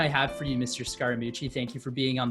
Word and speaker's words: Scaramucci: first or second grade my last name is scaramucci that's four syllables he picked the third syllable of my name mooch and he sort of